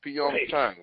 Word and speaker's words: Pyeongchang: No, it's Pyeong Chang.